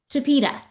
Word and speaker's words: Chipeta: Then we've got, can you pronounce that Chipeta Lodge? Is it Chipeta Lodge? Chipeta. Okay, thank you.